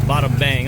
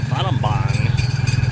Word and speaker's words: Battambang: That's not bottom like an O-M, that's an A-M. It's spelled like Battambang.